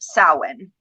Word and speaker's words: Samhain: Now it's spelt like Samhain, but it is pronounced Samhain.